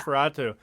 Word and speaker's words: NOS4A2: Nosferatu. But I thought it was like a code name or something at first, like NOS4A2. But yeah, Nosferatu when I properly Yeah, got I into mean, it.